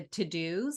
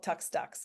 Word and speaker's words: TeuxDeux: It's called To Do, but it's spelled TEUXDEUX. I joke that it's called Tux Ducks because that's how it looks.